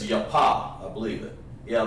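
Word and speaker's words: יפה: beautiful in in hebrew is yah like your daddy or your mouth your paw like your pop that means beautiful so take a yapa rib beautiful your pop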